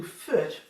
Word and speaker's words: Fürth: from, in 1499, many of them moved to Fürth, F-U with an umlaut, R-T, Fürth. German is tricky to pronounce, which is only 4.5 miles away.